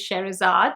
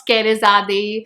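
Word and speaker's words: Scherazade: For everyone who always struggles with my name, it is Sherazad. The C is silent and the last E is silent. So it's not Skerizade, Kerizad, or Sherizad, or Scheherazad, or Scheherazade, or what else?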